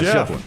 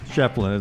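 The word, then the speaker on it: Schieffelin: LT, help me with the name pronunciation. The big Ford basketball player at Clemson, Ian, was it Shefflin? Yeah, Shefflin. Shefflin.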